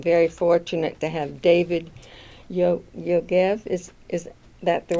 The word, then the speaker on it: Yogev: And I'm very fortunate to have David Yogev. Is that the right pronunciation?